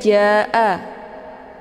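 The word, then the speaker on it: جَاءَ: Kemudian ja'a, ini juga dibaca panjang, boleh 4 atau 5 kali ketukan.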